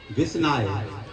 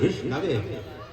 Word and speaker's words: विष्णवे: तो उसमें उन्होंने एक श्लोक भी बोला है, मूर्खो बदति विस्नाय, मूर्खो बदति विस्नाय, धीरो बदति विष्णवे। वो संस्कृत में जो विद्वान है वो कहेगा विष्णवे, बिना पढ़ा कहेगा विस्नाय।